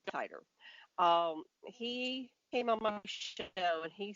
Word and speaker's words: Titor: was John John Titor how are you pronounce it I say tighter he came amongst when